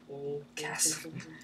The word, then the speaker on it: chasm: Chasm. It's pronounced chasm.